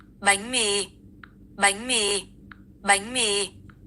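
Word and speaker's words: bánh mì: See, it sounds like a G. Watch. Listen. It sounds like bang bang. Bang me.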